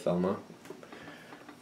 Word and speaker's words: Thelma: I believe the H is silent, though. There's the other side. I gotta get to the website to see why that said Telema instead of Thelma.